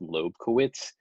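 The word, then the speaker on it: Lobkowitz: until 1798 when prince i believe it's pronounced loeb kowitz commissioned him to write a series of quartets six quartets which ended up being opus 18.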